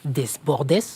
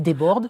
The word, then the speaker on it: Desbordes: On peut citer le petit dernier de la liste Jean-Philippe Desbord, je le prononce mal Jean-Philippe Desbordes.